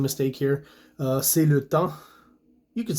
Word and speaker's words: temps: C'est le temps. You could say that. It's time, right, in French, but there should be an S here. You don't pronounce it.